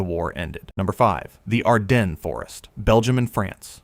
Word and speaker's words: Ardennes: Number five, the Ardennes Forest, Belgium and France. Pronounced Arden. The Ardennes is enormous, dense, hilly, spanning three countries, and it has swallowed armies twice in living memory.